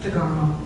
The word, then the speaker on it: DeGarmo: Or can you pronounce it for me? DeGarmo.